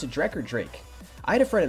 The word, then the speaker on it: Drek: Do you pronounce it Drek or Drake? I had a friend in high school who spelled his name D-R-E-K, but he pronounced it Drake, which is pretty cool.